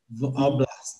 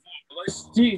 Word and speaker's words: в области: V'oblast, c'est ça? Non, v'oblasti, il faut prononcer toutes les lettres.